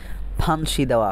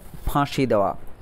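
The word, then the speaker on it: ফাঁসিদেওয়া: কিন্তু একটা এন রয়েছে এখানে অনেকে উচ্চারণ করতে পারেন যে ফান্সি দেওয়া ফান্সি দেওয়া উচ্চারণ করতে পারেন কিন্তু এই বাংলায় যখন একটা চন্দ্রবিন্দু থাকে সেই শব্দটাকে যদি আপনি ইংরেজি ইংরেজি লেখেন তাহলে চন্দ্রবিন্দুর পরিবর্তে একটা এন ব্যবহার করা হয় ঠিক আছে এ কারণেই এই যে চন্দ্রবিন্দুতে যেহেতু একটা নাসিক্য উচ্চারণ থাকে সেই নাসিক্য উচ্চারণের জন্য এখানে এন ব্যবহার করা হয়েছে যে ফাঁসি দেওয়া ঠিক আছে ফাঁসি দেওয়া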